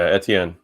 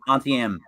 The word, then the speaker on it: Etienne: with the best uh i pronounce her last name wrong every time but it's travis etini that's the end yeah etienne ntn almost like auntie m auntie m all right